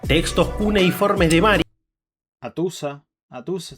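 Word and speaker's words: Hattusa: Atusa está bien pronunciado.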